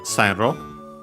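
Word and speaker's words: 線路: Then we have Sanro. Uh we check its accent, but it means uh railway. Uh yeah, accent on the first syllable.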